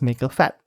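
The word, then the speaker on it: Maker pHAT: I mainly tested it out using the Cytron's Maker FAT. And yes, that is actually how you pronounce that thing.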